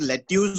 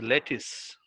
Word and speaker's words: lettuce: is lettuce so what is this this is let use or lettuce how do you do I have